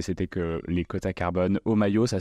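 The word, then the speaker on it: Homaio: Omayo, ça s'écrit H-O-M-A-I-O.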